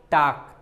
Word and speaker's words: talk: अभी तक आप बोलते थे टाक, TALK, इसे टाल्क मत पढ़िएगा, इसे क्या बोलते हो? टाक। आप तो सुन लेते हैं कि हाँ इसे टाक बोलते हैं।